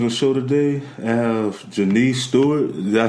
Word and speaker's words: Jeniece Stewart: I have Jeniece Stewart.